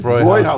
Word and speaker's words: Hofbräuhaus: Hofbrauhaus, Buffalo, yes.